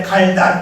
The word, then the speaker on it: 갈다: 두 번째 갈다 짧게 발음하는 것은 삶의 변화를 말합니다.